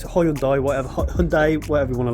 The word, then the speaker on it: Hyundai: It's Hyundai, whatever you want to like.